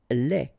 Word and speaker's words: lait: Lait. Un lait. Okay, so the only difference is the final thing here, D, you don't pronounce it, T, you don't pronounce it. So, phonetically, you only have this lait.